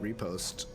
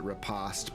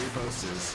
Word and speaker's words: riposte: I think all you need is Brilliant Repost. I know some people pronounce it riposte, but they're wrong.